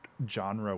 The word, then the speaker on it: genre: i don't know because genre with like a hard hard g sound sounds weird for me so it's a genre um you don't say jean okay good thank goodness god